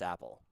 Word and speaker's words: APL: That is Gritty Man and APL which I'm pretty sure is pronounced Apple.